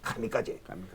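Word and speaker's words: 神風: 그걸 일본 발음은 카미까지.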